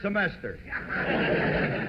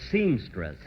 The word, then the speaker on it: semester: This is his third semester. Oh, Phil, say that word again, will you? Semester. Say it once more. Semester. You know, folks, at rehearsal, he kept pronouncing it seamstress.